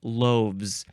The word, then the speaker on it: loaves: two loaves you got loaves l o o a v s and that's where the pronunciation is just Z loaves the the F becomes a V and then you add the Z it says compared to